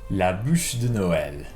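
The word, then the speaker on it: bûche de Noël: you say the yule log in french equity la bouche de noel la bouche de noel la busch noel la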